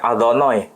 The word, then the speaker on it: Adonai: Orang Yahudi membacanya Adonai. Tidak boleh dibaca sesuai dengan tulisan. Yeah. Karena ini terlalu suci.